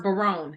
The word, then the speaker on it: Bayron: I believe it's pronounced Bayron.